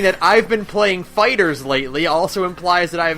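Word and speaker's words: FighterZ: So, Namco Bandai has said it's Fighters. It's Dragon Ball Fighters. Boo. And then Namco Bandai said, but you can pronounce it however you want, we don't care. Oh, well... So I call it Fighter Z, because Fighters is a genre of video game, and saying that I've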